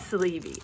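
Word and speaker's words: Sleve: Okay, so on the back I did created by Sleevey, YouTube Raleigh Girl, Instagram at Raleigh Girl Designs. Okay, so that's it looks, the last name looks like sleeve, but it's Sleevey, S-L-E-V-E.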